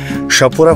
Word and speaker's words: Chapora: সাপুরা fort বানান হচ্ছে CHAPORA, তো সাপুরা বা সাপুরাও বলতে পারো। তো CH এটাকে শাহ উচ্চারণ করে লোকালসরা।